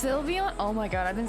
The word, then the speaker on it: Sylveon: uh oh it's pronounced Sylveon oh my god I've been saying I've been saying sleepy on because it looks like the word sleeve so you mean I've